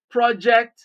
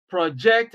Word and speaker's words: project: rules rule number one if a two word is used as a noun and also as a verb stress the first syllable